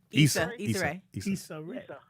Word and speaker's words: Issa Rae: Pronounce her name? Issa Rae.